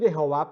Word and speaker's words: Jehová: Pronuncio Jehová porque al parecer, de acuerdo a las últimas traducciones, esa es la forma más correcta de hablar el nombre de Dios.